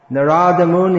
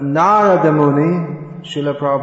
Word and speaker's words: Narada Muni: does he even exist narada moon he first came into being probably some time in the 1960s but narada muni writes is an eternal spaceman narada muni must be